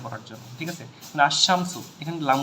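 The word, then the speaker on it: الشمس: হরফটা থাকবে সেটা পড়ার জন্য ঠিক আছে মানে আশামসু এখানে লাম উচ্চারণ হয় না ঠিক আছে লামটা আছে মারেফাত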